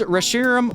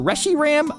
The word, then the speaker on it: Reshiram: Ends Reshiram or Reshiram. If Reshiram is the right way to pronounce his name, then I don't want to be right because Reshiram sounds weird to me.